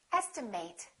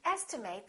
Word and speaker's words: estimate: at the next one this can be a verb in that case it's pronounced as estimate I would like to estimate the cost of this or estimate if it's a noun